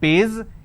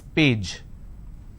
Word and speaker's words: page: If I have the word which is page, they pronounce this as pays. It's not pays, it's page.